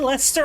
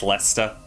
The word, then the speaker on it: Leicester: Red Leicester, I'm not sure I've had in a very long time.